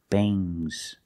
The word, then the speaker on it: bangs: Remember with NGS, it makes a soft G, G. Bangs, bangs, bangs.